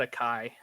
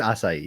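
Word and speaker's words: açaí: i'm like oh no is that how you pronounce that i always just call it a kai it's acai yeah it's french uh but yeah i mean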